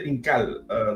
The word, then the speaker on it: Incal: It's the Incal. That's the Incal. Incal. Yeah, that's how Jodorowsky pronounced it.